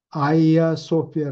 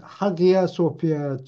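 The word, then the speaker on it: Hagia Sophia: 갔어요 콘스탄티노플에 있는 그 아이아 소피아 라 그래요 영어로는 하기아 소피아 럼 들리는데 그리스 발음으로는 h 자를 발음 안 하기 때문에 아이아 소피아라는 거기에다가 그냥 금박으로 막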